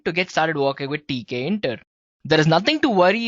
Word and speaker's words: Tkinter: Yes, it's spelled as Tkinter, right? So it's Tkinter, guys. Well, among all of these,